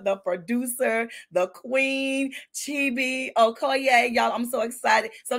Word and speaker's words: Okoye: Okoye?